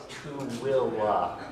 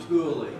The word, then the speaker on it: Tooele: If you want to say it like a local does, you gotta say it kind of like Tooele or something like that. Not Tooele. Yeah, not Tooele. I've made that correction a few times before, and you want to say it right.